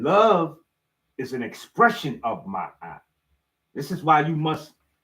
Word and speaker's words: Ma'at: And again, Ma'at is spelled M-A with a apostrophe, whatever that little symbol that goes up there over the A, apostrophe or something. I'm not quite sure. I didn't graduate school. I do humbly apologize. Okay. And then another A and a T, and they pronounce it Ma'at.